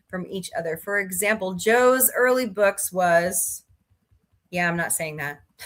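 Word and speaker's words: Zhou: For example, his name isn't Xiao, as the Latin alphabet speaker would say, but rather Joe.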